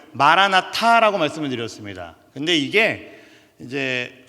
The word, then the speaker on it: 마라나타: 해석이 한 가지가 더 가능합니다 제가 뭐라고 말씀드릴게요 발음을 마라나타라고 말씀을 드렸습니다 근데 이게 이제 언어에 따라서 한